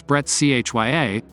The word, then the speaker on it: breccia: wipe broken up or what geologists would call breccia pronounce Bret chya silicious Cinder surfaces underneath